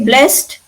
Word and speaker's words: blessed: Can you see what I'm pronouncing? Blessed. T sound.